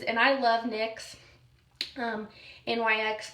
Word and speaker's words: NYX: Um, NYX pronounced NYX.